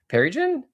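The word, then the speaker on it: Pearrygin: How do you spell it? Perigen.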